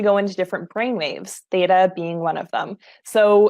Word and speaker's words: theta: know, dear Laura, that you are a certified, am I pronouncing this right, theta healer? How do you, Yes, theta healer.